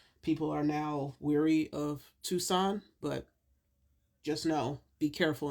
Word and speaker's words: Tucson: Tucs- Tuscan Tucson. I know how to say it. I just always want to say Tuscan. Tucson, Arizona.